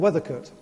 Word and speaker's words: Weathercote: above Chapelodale, called Weathercote, which is spelt today like weather, as in it's raining. But historically, it was not weather as in weather, but weather as in weather, a castrated male sheep, a weather coat.